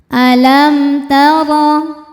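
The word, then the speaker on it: أَلَمْ تَرَ: Alam taro. Huruf ro dibaca secara tafkhim karena ro berharakat fathah. Cara membacanya ditebalkan dengan cara mengangkat pangkal lidah kita.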